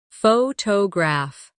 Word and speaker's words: photograph: Photograph. Now, photographer. Notice how the stress changes when the word becomes longer.